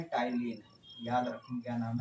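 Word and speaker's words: ptyalin: जिसका नाम है टाइलिन। याद रखें, क्या नाम है? टाइलिन पी साइलेंट होता है, टाइलिन एंजाइम।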